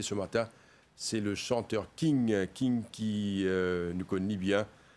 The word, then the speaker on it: Kin: Je dis, le nom qui m'ont de moi, c'est Kin.